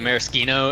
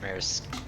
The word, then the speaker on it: maraschino: Anyway, to answer your question about pronunciation, technically, I think Italian pronunciation is maraschino.